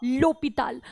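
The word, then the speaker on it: l'hôpital: La Femme the लोपिताल, अब यहां पर एच है और ये साइलेंट है, वॉवल की तरह यूज हो रहा है, इसलिए एल अपॉस्ट्रोफ आपका लगा।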